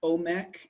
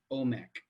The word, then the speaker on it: Omek: um this is pronounced omec and it's iron mem cough um he they spell it i i've spelt it here with ao because otherwise it looks like amec but it's pronounced omek but it starts with